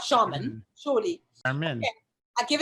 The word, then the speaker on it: Charmin: pronounced like the toilet paper. But well, no, actually, that's Charmin.